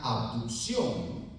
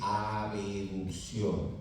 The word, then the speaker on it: abducción: Que senso estricto, la flexión lateral de la cabeza vendría a ser una abducción, una abducción, ¿no? Una abducción. Recuerden ustedes que no se dice abeducción, no se dice abeducción, se dice abducción.